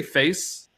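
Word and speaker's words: FAISS: I needed the the f a i s s do they say face like is that is that how could you yeah I think you can pronounce his face yeah uh in this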